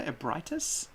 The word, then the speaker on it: Ebrietas: mud takes us all upon the awakening of Ebrietas." He calls her Ebritus. So if that had come, we would be pronouncing that name completely differently.